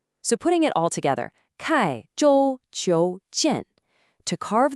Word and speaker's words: 刻: The first character is pronounced kai.